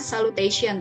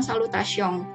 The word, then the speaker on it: salutations: Inggris mungkin eh dianggapnya dibacanya salutation Tapi kalau dalam bahasa Perancis ini dilafalkan dengan salutation ya ketika ada huruf n di akhir kata itu berbunyi geng ya jadi salutation ya Ini